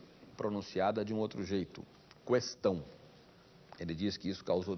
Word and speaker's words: questão: acordo com os funcionários não existe trema nessa palavra portanto e se unam deve ser lido questão é fato também que